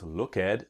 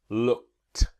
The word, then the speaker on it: looked: Now we don't pronounce look at but looked. Looked.